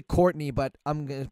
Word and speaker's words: Courtenay: your own website coordinate Taylor well let's say Courtney but I'm gonna pronounce it like that and it's Co you